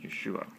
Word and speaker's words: Yeshua: Pronounced Yeshua.